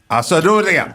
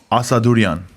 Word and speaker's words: Assadourian: Anyway, Jr., Assadourian. I hope I'm saying that last name correctly. It's Assadourian. Assadourian.